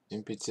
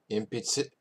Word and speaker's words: 鉛筆: 鉛筆鉛筆鉛筆 Impitsu is pencil. Impitsu. 鉛筆 Impitsu. It's one of those ones where tsu is different than su.